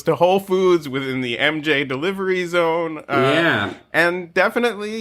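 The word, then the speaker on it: EMJAY: sponsor for this episode mj delivery spelled e-m-j-a-y phonetically mj these guys are a fantastic delivery service i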